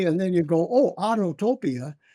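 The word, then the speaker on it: Autopia: projects that you worked on were was it Autotopia or was it um other besides that? It's pronounced Autotopia, babe. Autotopia.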